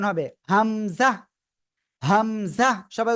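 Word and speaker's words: همزة: ঠিক আছে ঠিক আছে এবার এই হামজাটা সিম্পল উচ্চারণ হবে হামজাহ হামজাহ সবাই উচ্চারণ করেন হামজা ওকে এবার আমরা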